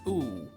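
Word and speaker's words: ウッウ: As in, the letter ‘u’ twice, pronounced oo-oo. It sounds absolutely bizarre, but this name is actually one of the craziest puns in all of Pokemon. So, the sound this name makes, oo-oo, is the Japanese onomatopoeia for the sound of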